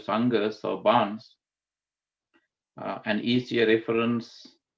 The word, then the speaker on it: sangha: Sangha is spelled S-A-N-G-A, not S-A-N-G-H-A Sangha. S-A-N-G-H-A Sangha is pronounced is Sangha, which is part of the Triple Gem, whereas here it is S-A-N-G-A Sangha, meaning bond.